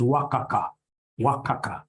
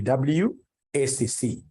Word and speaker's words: WACC: companies you'll get somebody instead of pronouncing this thing professionally as WACC you'll get somebody calling it waka waka no no no that's very unprofessional it's supposed to be wcc is supposed to be